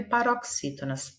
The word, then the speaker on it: paroxítonas: Atenção, como se escreve paroxítonas? É com X. O X aqui tem som de CS.